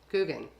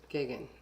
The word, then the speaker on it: Gagan: John, how you say it? Guggen. Did you say Guggen? Gagan. Gagan.